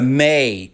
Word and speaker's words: me: The May as the source code of the May tricks. In Sumerian myth, the may pronounced may were the physical objects